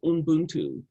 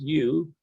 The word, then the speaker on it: Ubuntu: So there is a wonderful word in the South African culture called Umbuntu, and it's probably a word that you know. It's spelled Ubuntu, and it means I am because we are.